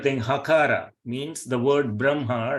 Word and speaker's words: Brahma: Urasya means from the chest region. So if I say Brahma, You see, Brahma. So I can feel it is coming from this region. If I say Brahma, it is coming from here. So it is Brahma. So though it is written as Brahma, so we need to pronounce it as Brahma.